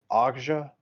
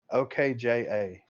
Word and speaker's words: Okja: And then he directed I don't know how to pronounce it. Okja, OKJA.